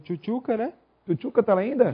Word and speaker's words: Tchutchuca: Aliás, a pronúncia no nome dele, quando eu narrava o dois, é Tchutchuca. Então, desde o Jacareí, né?